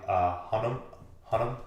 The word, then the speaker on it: Hunnam: Tom Hiddleston, Jessica Chastain, Charlie Hunnam.